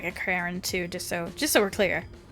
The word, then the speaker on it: Karin: Okay, just so we're clear, her name is Karen. Karen. I understand why they put the accent on the A, though. It's to make it more authentic to the world. Sure, but it's totally Karen.